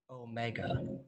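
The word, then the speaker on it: Ω: the set I'm going to write as this pronounced Omega so when I write Omega this just means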